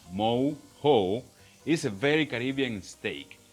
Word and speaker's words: mojo: Steak with mojo, pronounced mo-ho, is a very Caribbean steak.